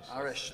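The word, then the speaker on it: Aharish: Did I pronounce her name wrong? Lucy Arish. Arish, thank you for the right pronunciation.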